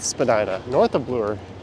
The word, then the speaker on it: Spadina: names in Toronto and she highlighted Spadina and said it was really spagina I made a comment that that's incorrect south of Bloor it is Spadina north of Bloor it's Medina Spadina Avenue or Spadina Road